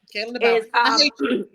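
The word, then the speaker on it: Kalen DeBoer: Yep, Kalen DeBauer.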